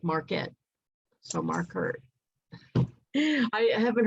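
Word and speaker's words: Markert: mark hart mark hart his last name is spelled m-a-r-k-e-r-t mark hart but he said it sounds like marquette so mark hurt i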